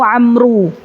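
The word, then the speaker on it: عمرو: tulisan di Arab ya kalau ibu-ibu baca Abdullah Ibnu Umar itu habis ro enggak ada wawya tapi kalau habis ro ada w maka dibacanya Abdullah Ibnu Amru tulisulis ini kaidah yang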